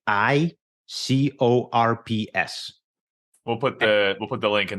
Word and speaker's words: I-Corps: ICOR. It's ICORPS. Okay. The P is silent.